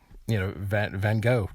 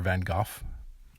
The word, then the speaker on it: Van Gogh: Van Gogh did that, or Van Gogh. I guess it depends on what part of the world you're from, how you pronounce his name, where there's this tremendous